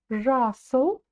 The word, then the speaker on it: жасыл: Маган, жасыл. Смотрите, буква «ы», она короткая, и ударение будет стоять на букве «а».